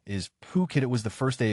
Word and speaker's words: Phuket: It wasn't until just about the end that I realized that I had been pronouncing Phuket as fuck it the entire time as I was reading my cards.